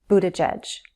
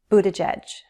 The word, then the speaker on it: Buttigieg: like a schwa sound, Buttigieg. The 2 G's are soft G's and sound like a J, Buttigieg, Pete Buttigieg.